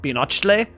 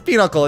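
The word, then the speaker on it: pinochle: how you pronounce that you might think it's pach or something but it's not it's peanuckle it's it's it's a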